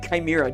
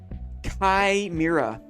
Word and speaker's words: chimera: What an odd chimera.